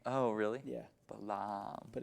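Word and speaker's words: Balham: Yeah, and it's really gross, and so everyone pronounces it Balaam to try and make it sound more posh. Oh, really? Yeah. Balaam.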